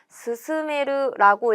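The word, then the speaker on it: 勧める: 권할 권자를 써요. 그래서 권유하다, 추천하다 라는 뜻을 가지고 있고 스스메르라고 읽으면 동사가 됩니다.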